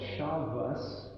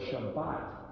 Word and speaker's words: Shabbat: So you get Ashkenazi versus Sephardic, and sometimes they'll call it Shabbos, or sometimes they'll call it Shabbat. It's the same word.